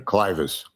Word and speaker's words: clivus: Am I pronouncing that correctly? Clivus.